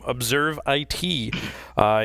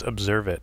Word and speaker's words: ObserveIT: It's Observe It, not ObserveIT, right?